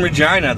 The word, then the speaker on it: Regina: I can't say hey we're in Regina the place that rhymes with fun um so it's is